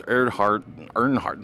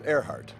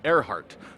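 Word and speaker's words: Erhardt: Lawrence Earnhardt. How do I pronounce that? It was Earhart. Earhart.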